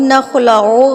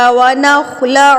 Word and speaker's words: نَخْلَعُ: ونترکو یا نخلعو، یہ نخلعو غلط ہے، نترکو غلط ہے، عین پیش او ہوتا ہے، او نہیں ہوتا، ونترکو ہوتا ہے، کو نہیں ہوتا۔ اس کو غلط مت